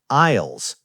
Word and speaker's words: aisle: Can you spell aisle for our listeners? Yes, it is spelled A-I-S-L-E. Aisle. The letter S is completely silent. We do not say the S. We just say aisle.